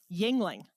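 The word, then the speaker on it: Yuengling: you say it Yingling Yingling yes yes Yingling Yingling I would not have guessed that because it looks like jingling yes jingling yes so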